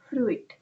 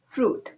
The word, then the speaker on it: fruit: It's not fruit. It's fruit. Moving on to longer word, we have comfortable.